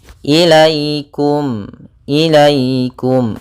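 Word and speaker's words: إليكم: yang di dalam fathah, maka ini bacaan lin. Maka dalam pelafalannya harus lembut, tidak boleh ilaikum. Jangan sampai juga dibaca dengan bacaan harus sempurna i-nya. Ilaikum, ilaikum.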